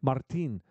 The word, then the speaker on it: Martin: Martin. That's how you say his name. Martin. Martin. You have to roll the R.